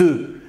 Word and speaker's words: œufs: Et on dit des œufs. بيضتون. Un œuf بيض des œufs. Eh oui, ça se prononce pas pareil. Hein?